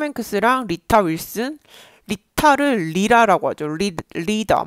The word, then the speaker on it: Rita: And Hollywood legend Tom Hanks and his wife Rita Wilson infected. 그리고 지금 톰 행크스랑 리타 윌슨, 리타를 리라라고 하죠. 리더 뭐 이런 식으로 얘기하죠. 네, 가운데 T가 들어가면 발음을 디귿처럼 얘기해요.